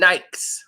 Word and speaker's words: Nike: said hell we Nike the actual pronunciation of the word is Nik why do this Focus